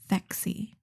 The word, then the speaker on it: Phexxi: my educational guess that it kind of sounds like sexy and maybe draws people yeah yeah and it's spelled p h xxi fexy which is really interesting so